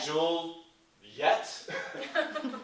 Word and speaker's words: Juliet: our toes right um how many syllables is Juliet right Matt with Shakespeare it's two and jeel yet is the sun right so now we have our 10 beats right so the cool thing about Shakespeare's work is that sometimes he breaks his own rules and like Juliet even though that's really three syllables we have two and sometimes he